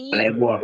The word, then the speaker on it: labor: L labor labor. Labor. Look at us. L. We cannot say labor but labor. Labor. Iya. Langsung o-nya dibaca a labor gitu.